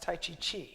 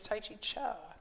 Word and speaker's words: T'ai Chi Chih: as tai chi cha the third word is pronounced cha although it's spelled c-h-i-h you'd think it might be pronounced tai chi chi but it's tai chi cha and if you were